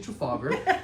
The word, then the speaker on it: Trafalgar: They pronounce it a little weird though, but it's actually Trafalgar.